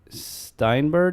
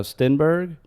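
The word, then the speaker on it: Stenberg: Anyway, um they've been playing with Otto Steinberg. No, Stinberg.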